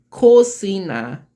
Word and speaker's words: cocina: Cocina. Yeah, Cocina. That's how they pronounce it.